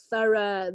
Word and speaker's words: thorough: it's very very short thorough the gh is completely silent night kiss okay how